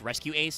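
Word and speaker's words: Rescue-ACE: uh race uh or r dash ace but it's pronounced rescue ace so it'll probably be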